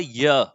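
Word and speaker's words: ewe: जैसे एग्जांपल देखिए, लिखा गया है अ य, देखो भले ई डब्ल्यू ई लिखा गया है लेकिन इसको केवल य पढ़ते हैं, केवल य पढ़ते हैं, इसकी वजह से यहां पे हम ए लगाए हैं।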